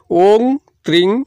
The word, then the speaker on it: ওং ত্রিং: হইছি ওম ত্রিং মাউথরে কইছি ওং ত্রিং ত র ফলা দীর্ঘিককার অনুস্বার এহ আপন সাতথর কইবে অর্থাৎ